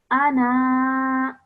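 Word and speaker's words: أنا: to read it, then the Alif Zaida comes back in and you would pronounce this as Ana.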